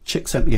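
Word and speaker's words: Csikszentmihalyi: as well so it's even more shameful behind chick sent me high 1934 to 2021 the problems aren't over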